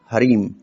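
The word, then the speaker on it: ह्रीं: एंग फिर लगाना है हरीम हरी हरिंग नहीं हरीम उसके बाद लगेगा क्रीम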